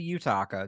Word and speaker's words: Yutaka: some people are like how do you say your name it's actually you talk just yeah all